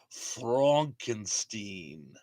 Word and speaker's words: Frankenstein: David said, it's pronounced Frankenstein.